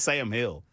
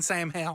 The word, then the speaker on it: Sam Hill: I think it's Sam Hill. I think it's Sam Hill. I'm saying Sam Hell. Oh, that's fine. Okay. I just didn't know if you knew you were saying it wrong.